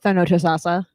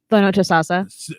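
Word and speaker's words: Thonotosassa: All right, Thanotasasa. The known assassin. Thanotasasa. Say it like you're saying the known assassin.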